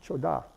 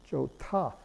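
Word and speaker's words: 좋다: be good there that's this pronounced joke ha not cha da but Jota the T gets aspirated because of the heat which you have to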